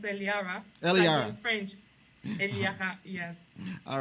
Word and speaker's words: Eliara: okay but I just like it when it's pronounced Elara in French yes all right we will talk